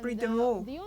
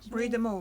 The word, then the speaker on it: Brie de Meaux: And Brie de Meaux. That's how you pronounce it. Okay, Brie de Meaux.